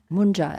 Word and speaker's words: munja: Then he asked Mara, do I carry, is that manja or munja? M-U-N? Mun? Munja.